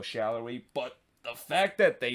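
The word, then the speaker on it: Salloi: fixed the pronunciation and the correct pronunciation is daniel shallowy but the fact that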